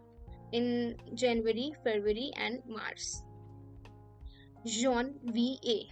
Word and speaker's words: Janvier: Janvier. How do we pronounce it? Janvier.